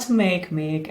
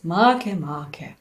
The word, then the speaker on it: Makemake: It's not Makemake, as it would be convenient for us. It was named after an Easter Island creator god, so why would it be convenient for us to pronounce it? It should be pronounced as Makemake.